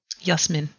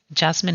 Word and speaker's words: Jasmine: for me you know my name isn't actually technically jasmine it is well it is but stop pronounce that way Oh how are you supposed to say it yes men yeah yes yes man